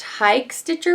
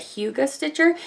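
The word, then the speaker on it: Hygge Stitcher: one is Huga Stitcher it looks like it should be pronounced hike Stitcher but I keep listening to her pronounce it so I could say it right Hugo Stitcher and she is so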